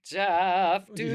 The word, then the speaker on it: Dunas: Jeff Dunas.